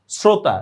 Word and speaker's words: শ্রোতা: আমি লিখছি তালবস্য উচ্চারণ করতেছি দেখো দন্তস্যর মত শ্রোতা লিখছি তালবস উচ্চারণ করতেছি দন্তস্যর মত শ্রাবণ দেখছো লেখছি তালবস